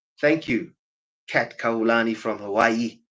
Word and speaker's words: Hawaii: you Kat kulani from Hawaii Havi that's the correct correct pronunciation okay original frequencies are